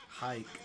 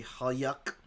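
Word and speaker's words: Huyck: Yeah, that's just to make sure you don't say huck.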